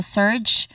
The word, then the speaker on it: surge: So it's a um soft g J sound here. So surge. So it ends with J J sound.